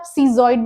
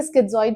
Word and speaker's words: schizoid: Topic है वो है स्किजोइड या फिर आप सीजोइड भी बोल सकते हैं। मैं इसे स्किजोइड प्रोनाउंस करती हूं।